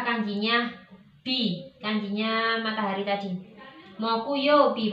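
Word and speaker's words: 木曜日: Moku yobi. Jadi kita menulis hari Kamis. Itu kanjinya pohon, kemudian kanjinya yo, ditambah kanjinya bi, kanjinya matahari tadi. Moku yobi bacanya.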